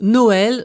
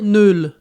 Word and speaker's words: Noël: Sa fonction principale est de signaler que deux voyelles se prononcent séparément. Le mot Noël s'entréma se prononcerait neul et la céréale maïs deviendrait mais qui indique une opposition.